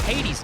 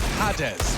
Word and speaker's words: Hades: And in the language that we expression, it is pronounced Hades. And I messaged him and I said, is that fine? Is that cool? And he said, yeah, sounds good. So Hades it is. As opposed to pronouncing it like Hades, which I'm sure English people pronouncing it like we were Polish would be weird.